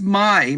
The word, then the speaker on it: Mai: her real name is Mai. Like Mai belongs, it's Mai. It's Mai. That's just how you say it, Mai.